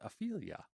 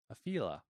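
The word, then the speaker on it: Afeela: how to pronounce it I'm gonna go with Ophelia afila a fee like Ophelia like the name Alex it's a-f-e-e-l-a I feel you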